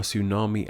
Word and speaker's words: tsunami: In English, we don't start words with these clusters of consonants, so when we took these words into our own language, we simply kept the spelling but didn't bother pronouncing the first letters.